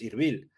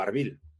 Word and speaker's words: Erbil: kurdistán autónomo en Irak es irbil o arbil o herbil Incluso se puede pronunciar de estas maneras Pero ellos queran llegará